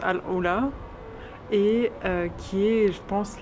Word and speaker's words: AlUla: Après 5 longues heures de route, monotone, presque 400 km tout droit, on est enfin arrivé à Al-Oula, qui se prononce Al-Oula, et qui est, je